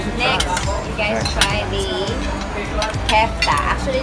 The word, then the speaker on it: kofta: Next, you guys try the kefta. Actually, this is pronounced as kofta, kefta, but...